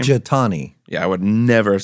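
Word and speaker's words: Jethani: Jathani.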